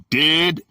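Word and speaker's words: διδάσκαλος: In the Greek, the word is didaskalos, pronounced didaskalos, from 1321.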